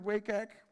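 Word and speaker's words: WCAG: still important today so if you look at wake egg that's how you pronounce it actually the guidelines are split into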